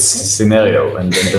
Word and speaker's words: Synereo: it called scenario or I think I even pronounced it wrong again so it's it's scenario and then the name comes from sin which